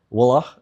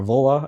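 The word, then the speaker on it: Wuille: Genius um Peter woly you know wah or voah I think is how you actually pronounce it I would say willly or something like that wah I think that's that's the closest I can go um but he's written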